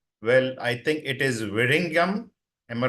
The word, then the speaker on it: Vizhinjam: Well, I think it is Vizhinjam. Am I right? So In Malayalam, we say Vizhinjam, sir, but you Vizhinjam. are almost right.